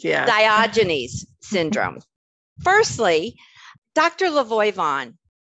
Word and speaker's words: Diogenes: talk about diogenes did I say it correctly diogenes yeah diogenes syndrome firstly Dr Lavoy Vaughn with over 30